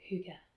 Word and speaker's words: hygge: g g e the danes always pronounce ease at the end of words which is why it sounds like hygge and this is a